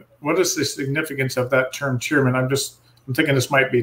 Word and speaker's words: Tearmann: we pronounce it to Tearmann, because the Irish language doesn't have the sharp T sound.